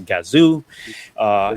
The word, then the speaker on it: Gazoo: with their kazoo race we now know how to pronounce and do it's a gazoo and now they're bringing